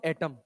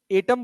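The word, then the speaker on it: atom: वैसे इसको एटम पढ़ते हैं, एटम। एटॉम भी नहीं पढ़ते, एटॉम, एटम, एटम, एटम, एटम। जैसे ई का प्रोनाउंसिएशन रहता है, थोड़ा ई डोमिनेटिंग रहता है।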